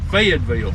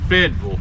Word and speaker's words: Fayetteville: alabama fayetteville alabama fayetteville fayetteville yeah that's how you say it here i mean a lot of people say it fayetteville we say it fedville down here in fedville